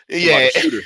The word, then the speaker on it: Ionescu: That I always say her name wrong. Ionescu.